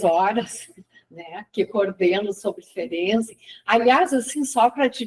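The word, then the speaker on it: Ferenczi: errado, mas que sempre fica uma discussão se é ferens ou ferze, né? E dessa vez o Luiz Cláudio, que foi quem levantou no grupo a questão que era fense que se informando a pronúncia em húngaro seria ferense, né?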